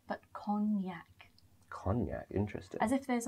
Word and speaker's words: Cognac: Now, this is another example where the G is not pronounced, so it's not pronounced Cognac, but Cognac.